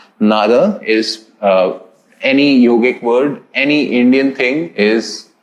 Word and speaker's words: yoga: just for universal acceptability and you know uh pronunciation nada is any yogic word any indian thing is having the a syllable in the end which means that yoga is idly and truly meant to be pronounced